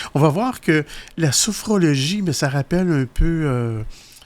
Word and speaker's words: sophrologie: Alors aujourd'hui, ton sujet, la sophrologie. Dur à dire. Oui, pourtant, c'est vrai qu'on s'accroche facilement dans ce mot-là. Ouais. Sophrologie, oui, ça s'écrit S-O-P-H-R-O-L-O-G-I-E.